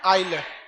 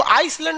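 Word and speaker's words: island: आइलैंड। आइलैंड में ना S silent रहता है। इसको आइसलैंड नहीं पढ़िएगा, आइलैंड।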